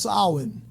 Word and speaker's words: Samhain: It says Samhain, but it's pronounced Samhain, and that is a holy day in the religion of Wicca.